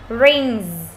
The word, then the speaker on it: rings: Rings. Chúng ta còn nhớ cái cách phát âm chưa nào? S-E-S, rings. Giống con ong bay.